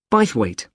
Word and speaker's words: Bythwaite: do you spell that b y t h w a i t e bite weight is it easy to